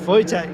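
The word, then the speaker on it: Wojciech: This is a This is Voytech Fabek. Voytech. Voytech. That's it. You have to excuse the difficulties I'm going to have with pronunciation, but Voytech in this beautiful S15.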